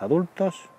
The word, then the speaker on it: adult: lost del capacitador la palabra a dalt en singular puedes pronunciarla a dalt a dalt o adult poniéndole el acento en la primera o la segunda sílaba según estés en el reino unido de gran bretaña o en